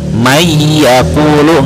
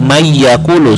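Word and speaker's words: من يقول: Jadi suara nunnya atau tanwinnya tidak dibaca. Mayyaqulu, enggak man ya dibacanya, tetapi mayyaqulu suara nunnya dimasukkan ke suara huruf selanjutnya.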